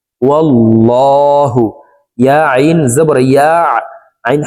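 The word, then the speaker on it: وَاللّٰهُ: তো দেখুন এখানে আল্লাহ শব্দের আগের হরফে জবর আছে, এই কারণে এই লামকে ল বলে পড়ব, অর্থাৎ মোটা ভাবে পড়ব, এভাবে পড়তে হবে, ওয়াল্লাহু, ওয়াল্লাহু।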